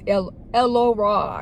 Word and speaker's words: Elora: And then she was like, I am Elora. That's how you pronounce my name in actuality. It's Elora is what it is.